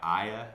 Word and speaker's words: Ai: It's spelled A-I. Aya, I think is how you might say it, are the 2 cities that they're supposed to conquer.